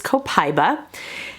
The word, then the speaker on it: copaiba: we have copaiba and you may hear this referred to as copaiba but from what i have read and what i have watched and listened to the proper pronunciation of this is copaiba there are so many